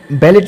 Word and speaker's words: ballet: जेन किक्टिस ने एक बैलेट लिखा था. बैलेट को प्रोनाउंस किया जाता है बेली.